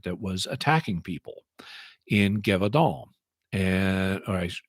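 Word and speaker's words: Gévaudan: was attacking people in gadal and accent's on the first syllable so G all and um and it's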